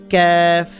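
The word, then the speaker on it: ك: জিহ্বার গোড়া থেকে উচ্চারণ করতে হবে এটা হচ্ছে ক্যাফ জিহ্বার গোড়া যেখান থেকে উচ্চারণ করছেন তার একটু সামনের দিকে আনলে যেটা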